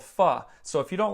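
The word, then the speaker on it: phở: I love Vietnamese soup, and there's a soup called pho.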